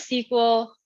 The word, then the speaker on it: SQL: week so what is sequel uh you can call it sql or sql it goes both ways i like saying sql because it's fewer syllables stands for structured query